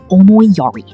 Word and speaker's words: omoiyari: The first concept you need to understand is called omoiyari, pronounced o-moi-ya-ri.